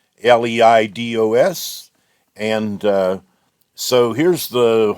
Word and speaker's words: Leidos: this is a service provided by Li lios I think I've been told that's supposed to be pronounced l d oos and uh so here's